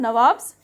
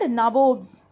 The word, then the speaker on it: Nawab: we must indeed become Nawabs ourselves. And it was the time when the company officials, they have only declared themselves as Nabobs. Actually, they could not pronounce Nawab. They declared themselves Nabob.